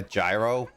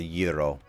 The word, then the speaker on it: gyro: a hero some people call it like a gyro but it it is actually pronounced a gyro is this supposed to be gyros or greek